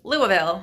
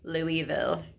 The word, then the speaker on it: Louisville: I'm saying it wrong so it's Louisville usually I say Louisville trying to train myself so the Omni Louisville